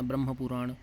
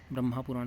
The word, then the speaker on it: ब्रह्म पुराण: किम तो आद्य पुराण ब्रह्म पुराण ब्रह्मा पुराण से संबंधित ब्रह्म पुराण है साथियों ब्रह्मा नहीं है